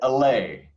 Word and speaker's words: Allay: And I always mispronounce the name of the organization you're representing, so say it for me. Yeah, Allay.